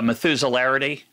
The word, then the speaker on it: Methuselarity: Let me see if I can pronounce it correctly. The Methuselarity.